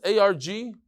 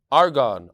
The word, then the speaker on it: Argonne: argon how do you how do you pronounce this a-r-g-o-n-n-e National Lab argon argon that makes a lot more sense the Argonne National Lab